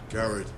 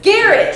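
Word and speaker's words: Gared: the torches are dry Jared oh did you know that is these not pronounced it's Garrett just scared like we never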